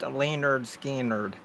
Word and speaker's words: Lynyrd Skynyrd: um it's called um pronounced Leonard Skynyrd okay Pirate Radio you're